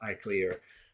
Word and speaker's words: ICLR: um most important conferences ICLR pronounced I clear um uh international conference